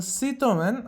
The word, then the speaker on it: Citroën: And now the Citroën, as it's pronounced in French, has conducted their India drive of their first car that they're going to be launching in India.